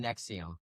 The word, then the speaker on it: NXIVM: Because I remember I looked it up and I forgot to write down how you actually say it. Nexium.